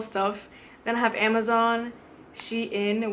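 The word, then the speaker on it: Shein: then i have amazon she in which i pronounced sheen i just ordered like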